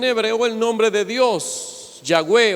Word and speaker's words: Yahweh: La forma más correcta de pronunciar el nombre de Dios sería Yahweh. Pero si usted le dice Jehová, Él no se enoja. Si usted le dice Yahvé, tampoco se enoja.